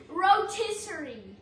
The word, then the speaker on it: rotisserie: a rotier oh my God oh my God rotisserie he says I say it wrong rotiss rotisserie